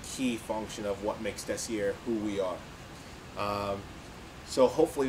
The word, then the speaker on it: Desiar: word desire i spelled it uh d-e-s-i-a-r and pronounced it decier so uh that's the core of desier it's always been about unique materials from swarcy